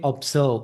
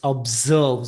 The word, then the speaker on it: observe: A couple of sounds are not clear, like z. You cannot say observe, it's observe. Z should be emphasized.